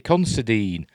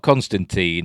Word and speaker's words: Considine: the series which includes paddy considine considering not constantine i've seen loads of reviewers saying constantine considine who pronounces his his